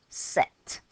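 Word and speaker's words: sept: it's a bit awkward a silent P set finally 8 now 8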